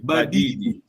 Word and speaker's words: badidi: Long vowel. Badidi. If you say, listen to my pronunciation. If you say by did you mean you are adamant.